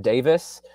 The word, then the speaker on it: Davies: and then um brian davis it's pronounced davis but it's spelled davies d-a-v-i-e-s um he also